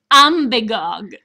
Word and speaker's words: Umbagog: It's Lake Umbagog. Lake Umbagog, and I've heard it pronounced 50 different ways, but Alice got it right.